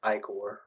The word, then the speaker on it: Igor: here Daria maybe um Igor you hear more like aore but Igor or that's how you say it it umina you might